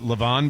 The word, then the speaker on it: Le'Veon: So is it Le'Veon Bell or is it Le'Veon Bell? Le'Veon, Mike. There Le'Veon. Is it really Le'Veon? Yes.